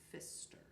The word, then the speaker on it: Pfister: PF but you don't the P is silent so Pfister I think I'm pronouncing